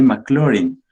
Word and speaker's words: Maclaurin: de taylor y maclaurin maclaurin se escribe y se lee mclaren en las clases anteriores